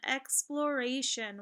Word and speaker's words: exploration: So taking a look at the first word here, I see a final stable syllable, T-I-O-N, which sounds like shun.